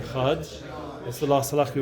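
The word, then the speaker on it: אחד: So you see by over here that there's a very careful dikduk with the Echad, should be pronounced properly because the Dalet is so fundamental to Mamlech Hashem.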